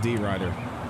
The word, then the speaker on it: DeRidder: The city's pronounced D. Ryder.